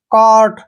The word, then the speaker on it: cart: ठीक है ना, CART, कार्ट। यहाँ पे देखिए ए के बाद फिर से आर आया है तो कार्ट, DARK, डार्क,